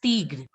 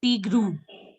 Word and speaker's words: tigre: So it is tigre. Tigre. And some of you, I heard that I saying tigru. It's not tigru, it's just tigre. Tigre.